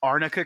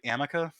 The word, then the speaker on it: arnica: to actually read the correct thing if it's arnica cream don't say amika or better yet like